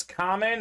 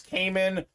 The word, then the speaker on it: Kamen: emphasis done see uh my name is common everyone who doesn't know me sees my name they think it's Cayman or Kamen so I do prefer